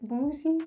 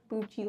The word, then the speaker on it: Bucci: Also, I was like, how do you say it? Boozy? Bucky? And she's like, Bucci, like Gucci.